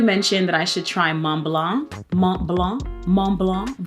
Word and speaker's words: Mont Blanc: One of you mentioned that I should try Mont Blanc. Mont Blanc. Mont Blanc. I'm trying to get the accent. Mont Blanc, because the T's, you don't pronounce the T and the C.